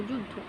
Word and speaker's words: যুদ্ধ: এর উচ্চারণটা কিন্তু জয়ের মতো হয়, ঠিক আছে?